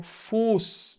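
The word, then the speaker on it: Fuß: junto a vogais longas então aqui eu tenho que demorar na hora de falar o u então eu falo fus tá fus é o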